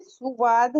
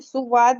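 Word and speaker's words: صاد: अगर मैं कहूं यह सुवाद है तो हम ऐसे करेंगे। तो दोनों स्पेलिंग एकदम अलग है। तो ये सुवाद नहीं होता है।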